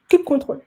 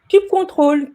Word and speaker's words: kubectl: Petit disclaimer, chaque personne dans ce monde a sa propre façon de prononcer la CLI de Kubernetes. Kubectl, kubectl, kubectl. Ne vous prenez pas la tête, prononcez-le de la manière dont vous le voulez et le plus important, c'est de l'utiliser.